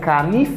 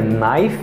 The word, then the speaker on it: knife: La, m pa genye kanif, ni m pa genye knife, but m just genye knife.